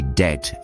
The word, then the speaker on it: debt: Words like debt and doubt used to be debt and doubt. But some geniuses thought, "Hey, let's show off our Latin knowledge and decided to throw in silent be to make them look more like their root Latin word debitum, which means something owed."